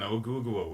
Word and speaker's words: Oguguo: Yeah, I was missing a syllable in Oguguo. We'll say there's an extra oo at the end.